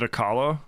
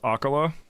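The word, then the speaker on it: Akkala: I keep forgetting that I've been mispronouncing this the whole time. I always called it Akala, but it's Akala. Which I don't know if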